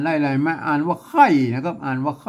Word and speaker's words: ไคร่: ตัว ข้า เนี่ย เห็น มั้ยอ่าน ว่า ใคร อ่าน ว่า ไข่ ออก เสียง ใคร เสียง คอม เสียง ไข้ เหมือน กัน นะ ครับ อือ ก็